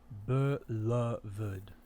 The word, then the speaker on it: beloved: Does beloved have 2 or 3 syllables? Can pronounce with either 3 or 2.